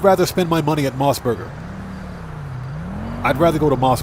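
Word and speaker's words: MOS Burger: That's basically how it's spelled. And I'm telling you guys, Moss Burger is like White Castle.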